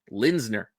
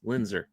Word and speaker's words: Lindner: Lindner, not Lind Lindser.